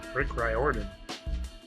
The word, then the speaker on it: Riordan: rick riorian rick do you know how to say his name rick reidian right orton right rick riordan if you were not